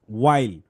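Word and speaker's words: while: ওয়াইল, nap under a tree, ওয়াইল, এটা কিন্তু হোয়াইল না, এটা তো ওয়াইল। কেমনে ওয়াইল হইলো, এই যে WH থাকলে কি হয়, ও, ও, ও, তারপর কি আছে ILE, ওয়াইল, আইল, আই উল, আই উল, আই উল, ওয়াইল।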